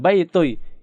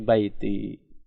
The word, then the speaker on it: baiti: Ya, kalau sebenarnya dia domah, ya, baitui, ya, cuman jadi nggak enak, ya. Orang Arab berat ngomongnya baitui. Jadi dipermudah dengan pengucapannya menjadi baiti, ya, baiti begitu.